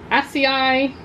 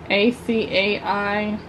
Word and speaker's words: acai: So this has notes of green apple, fresh cases, acai, never say that right, A-C-A-I, acai, I never remember how to say it, coconut water, aqua lotus, and jasmine petals.